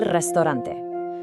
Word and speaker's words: restaurante: The restaurant, el restaurante. Try really rolling that R, restaurante.